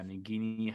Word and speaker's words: Nagini: and nikki harry yeah nagini however i mean you can pronounce it several different ways definitely nadine i just said the nagini pronunciation and i mean everyone's